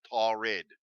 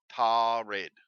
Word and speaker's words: Taured: Taured did exist, and it's pronounced Taured. Taured.